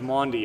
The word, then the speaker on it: Maundy: Thursday at 4:30 Good Friday 4:30 yes it's pronounced Maundy I learned Maundy Thursday 1d yes so and